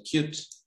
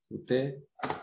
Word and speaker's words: Qt: Qt, esta biblioteca que vamos a ver ahora, bueno, acá dice que se pronuncia Qt. Nosotros lo vamos a decir bien en el castellano. Qt, pueden ver la página web.